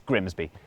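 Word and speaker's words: Grimsby: Take this place. Looks simple. But what if we told you it was pronounced? We'd be lying. It's Grimby.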